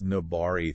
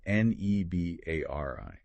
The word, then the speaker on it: Nebari: Was this Nobari thing the source mentions? It's spelled Nebari. Right, Nobari.